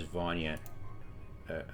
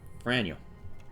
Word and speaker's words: вранье: Okay, I heard it as Vanya originally, but it was probably a mishearing. So, Franyo.